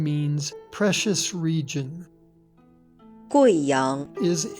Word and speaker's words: Guiyang: In the name of this province and its capital, the U plus I is pronounced Wei, not we. Listen. Guizhou. Guiyang.